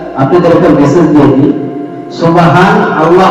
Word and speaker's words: সুবহান আল্লাহ: এই জায়গায় একটা আপনাদের একটা মেসেজ দিয়ে দিই, সুবহান আল্লাহ বলে বলুন, সুবহান আল্লাহ, নুন মানতে আছে, সুবহান আল্লাহ এটা সঠিক উচ্চারণ। আর আমরা বলি সুবহানাল্লাহ, সুবহানাল্লাহ এটা ভুল।